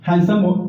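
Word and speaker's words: handsome: ये हैंडसम होता है, हैंडसम नीटी साइलेंट होता है, हैंडसम, ही इज हैंडसम, ही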